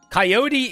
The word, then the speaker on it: coyote: Coyote is a way you can pronounce it, depending on where you live in the world.